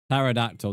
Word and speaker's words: pterodactyl: Pterodactyl.